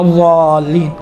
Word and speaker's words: ضالین: ضین آتا ہے، ولا ضالین، ضا نہیں، ولا ضا، یہ آپ تصور کریں دال جیسا ادا ہو رہا ہے، دیکھیں ولا ضالین، ہاں یہ انشاءاللہ تعالیٰ